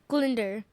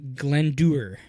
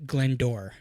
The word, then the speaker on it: Glyndwr: Glinder. Glinder? Glinder. Okay. Zoe? Glinderer. So, it's a Welsh name.